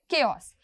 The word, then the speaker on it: chaos: के पढ़ेंगे और फिर केओस। लेकिन लिखते टाइम आपको यही स्पेलिंग लिखना है, CHAOS ही लिखना है, लेकिन बोलते टाइम आपको केओस बोलना है। कैसे बोलना है, KAOS, ऐसे बोलना है।